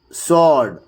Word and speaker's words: sword: W is silent in the following words also. You can just notice it here. Who, whose, all, whom, whole, whoever, answer, sword, to. In all these cases, it becomes a silent letter.